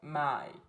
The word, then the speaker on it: 买: A única diferença entre comprar e vender em chinês é o tom. Então, my, comprar é no terceiro tom, tom que cai e depois sobe novamente.